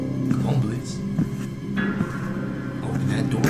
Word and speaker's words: Blitzø: hi my name is Blitz the O is silent of course wait what ho hi